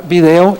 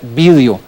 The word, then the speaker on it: vídeo: en el caso de la palabra que antes se pronunciaba video ya no se tiene que pronunciar video se tiene que pronunciar vídeo y además con la tilde en la i esto es bastante interesante